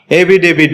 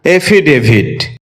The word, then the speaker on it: affidavit: এটাকে আমরা এভিডেভিট বলে থাকি, যার সঠিক উচ্চারণ হচ্ছে এফিডেভিট।